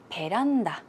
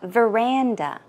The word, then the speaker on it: veranda: to use the word piranda, which comes from the word veranda. So, uh, if you want to pronounce it, you would say veranda. Veranda, that's where piranda comes from.